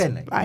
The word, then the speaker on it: Fagbenle: Yeah, and also like you just can't pause too Fagbenle. long before saying the Fagbenle. first and the last. Fagbenle.